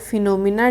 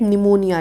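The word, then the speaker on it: pneumonia: इसके बाद है when is world phenomena day celebrated. World फिनोमा डे कब, फिनोमा बोला मैंने, sorry for that, निमोनिया डे। ठीक है, इसमें पी साइलेंट होता है।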